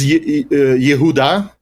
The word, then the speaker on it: Yehuda: I think it was Yehuda. Yehuda and Shomron is the pronunciation I studied.